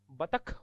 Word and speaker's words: बतख: हो रही है जैसे पहला ही शब्द बतक बोलते बतक है जबक बतक होता ही नहीं बतख होता है ख का उच्चारण करना है अरे महाप्राण किसी भी